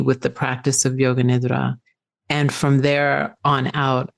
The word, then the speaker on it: nidra: You say yoga nidra, nidra. So, thank you for that pronunciation.